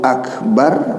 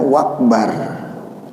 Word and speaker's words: Akbar: Allahu Akbar mestinya, tetapi dia bacanya wakbar. Allahu Akbar. Nah, itu udah salah tuh. Dari situ aja udah salah tuh, dari takbirnya aja. Bukannya akbar dia baca, tetapi wakbar.